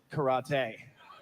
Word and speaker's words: karate: My sensei pronounced it karate, and he was from the Isle of Okinawa, so I'll be pronouncing it karate for the next couple of minutes.